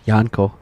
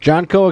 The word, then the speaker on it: JNCO: but I didn't know if it was like soft J janco no jnco Express oh I like